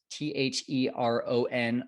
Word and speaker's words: Theron: Okay, show notes for this one, Fearless Kyle / Theron, Theron, just like it's spelled or just like it sounds.